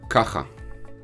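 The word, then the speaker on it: כָּכָה: So ka, cha, and hey is silent. It just completes the a sound, just like the yud completes the e sound.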